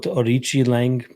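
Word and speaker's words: Aoriqileng: How you come up with Orichi Lang based on how his name is spelt? Questionable. Orichi. So the QI is a chi rather than a key.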